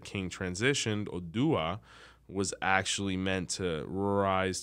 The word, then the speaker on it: Odua: So the full name is Oduduwa, but the short name, which the one mostly everyone says, is Odua, which is much more digestible.